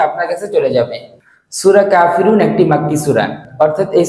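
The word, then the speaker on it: كافرون: কাফিরুনা কাফিরুনা কাফিরুনা, এভাবে করে 10 বার বলুন। এই শব্দের অর্থ হচ্ছে অবিশ্বাসীরা। এই শব্দের উচ্চারণ হচ্ছে কাফিরুন কাফিরুন কাফিরুন, এই শব্দের অর্থ হচ্ছে অবিশ্বাসীরা বা কাফিররা।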